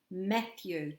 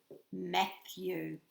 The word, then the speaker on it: Matthew: Matthew. 2 syllables in his name, and he's got a TH hiding in it. And we know that TH goes with our thumb, thumb, Matthew.